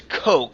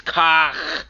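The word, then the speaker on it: Koch: Folks by the way I know it's Coke for Americans but I'm trying to pronounce it in the actual German version It's K or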